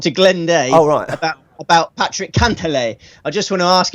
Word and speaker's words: Cantlay: I like, Steve, I very much like the Paul McGinley pronunciation there, Cantlay.